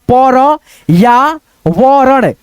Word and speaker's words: पर्यावरण: की मात्रा है प फिर यहां पे र का उच्चारण आ जाएगा प र या वरण पर्यावरण ऐसे करके हम लोग